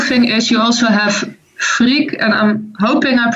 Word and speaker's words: Frigg: And the cool thing is, you also have Frigg, and I'm hoping I pronounce it right.